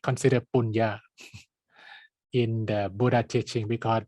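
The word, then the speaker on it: puñña: The original Pali term is punya. Yeah, it's like an N, but it's like pronounced like a Y, punya.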